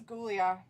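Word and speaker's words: Giulia: Her name's Gulia. You have to spell it with a G because her name is actually spelled with one. It's pronounced supposedly Julia lies.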